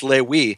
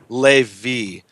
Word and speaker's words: Levi: word he pronounces as Lewi. And the answer is the rabbi in Israel, who was a native Hebrew speaker, pronounced it Levi, because the original Hebrew vav is a v, not a w.